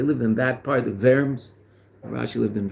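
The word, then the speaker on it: Worms: in that part the verms rashi lived in verms so it's pronounced in a German way not in a French way but um that means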